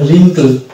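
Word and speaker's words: wrinkle: আমরা ডাকের সাইন ধরবো এবং উচ্চারণ করব এটার উচ্চারণ হবে রিঙ্কল রিঙ্কল রিঙ্কল রিঙ্কল তাহলে এক্ষেত্রে আমরা কিন্তু ডব্লিউ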